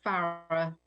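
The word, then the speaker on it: Farrer: Did I pronounce that right? Farrar and Company? It's Farrar. Farrar, okay.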